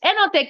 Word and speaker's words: Enontekiö: And this next place, I don't know how to pronounce either. I am from, it looks like Enontekiö. Yes, Enontekiö.